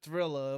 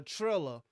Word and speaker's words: Triller: owned uh uh trilla i was calling him thriller up until i had to spell it uh trilla whoever owned the promotion